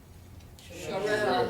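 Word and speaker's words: Cherelle: Jordan Harris, Vincent Hughes, how do you pronounce her name? Parker? Sherelle.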